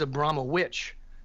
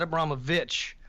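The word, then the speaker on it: Abramović: which I think is funny that she her act the actual pronunciation of her name is Abram witch not a brahma vitch but witch and that's she said very few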